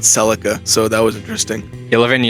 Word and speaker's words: Celica: I got called a motherfucker the other day on YouTube because I pronounced Salika, not Celica, so that was interesting.